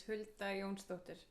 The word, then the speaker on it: Hulda Jónsdóttir: If you want like the complete correct pronunciation, it's Hulda Jónsdóttir. But that's I understand if it takes a couple days to practice.